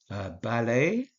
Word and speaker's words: ballet: Ballet is a word that comes from the French. As you can tell by the fact that you don't pronounce the NT there, the final T there.